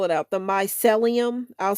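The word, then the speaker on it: mycelium: The Myelium. I'll spell it out just in case I'm saying it wrong.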